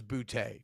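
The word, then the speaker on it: Boutte: off first question is is it booty or booty booty traditionally traditionally it's that last name is boote traditionally yeah but yeah you want to pronounce it somebody pronounce it yes booty just straight up booty he loves he says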